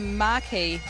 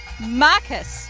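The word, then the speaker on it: Marquis: Huntley's Highland Fling, which is not Mari. How do we pronounce it? Marcus. It's the Marcus of Huntley's Highland Fling. So, apologies to anyone we offended with our terrible pronunciation. We were saying marquee like the mares around here, but it's Marcus. So, now we all know.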